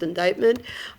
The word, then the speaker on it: indictment: it kind of looks like IND but it's pronounced indictment by a grand jury this is usually used